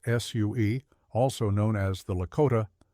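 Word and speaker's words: Sioux: of the Plains included the Sue pronounced Sue also known as the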